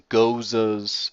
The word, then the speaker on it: Gose: Lambics, Gozas, Sours. Goza is spelled Gose, just for the record.